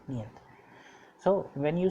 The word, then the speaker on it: нет: It is pronounced like niyat.